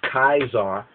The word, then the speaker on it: Caesar: um JC or Julius kaisar here we put Zar TZ a r here we put Kaiser the the German the German Way of pronouncing the K because the C actually is a k pronunciation so most will say